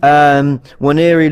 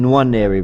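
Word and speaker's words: Nwaneri: Waneri looked someone actually corrected my pronunciation. I've been saying Waneri, but apparently it's Waneri.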